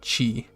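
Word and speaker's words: ち: on the saw and once again this is pronounced chi so we have ta chi all right this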